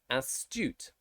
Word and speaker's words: astute: example here such as astute so the ass has only one consonant at the end of it so it's ass toot astute the next one